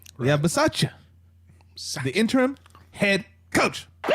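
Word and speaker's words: Bisaccia: we now have an interim coach right yeah versace the interim head coach that's how you pronounce his name so so here's my question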